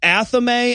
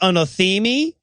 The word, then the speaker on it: athame: that the wiccans use which is pronounced correctly pronounced athame and he calls it anathemi and i'm like you know everybody mispronounces that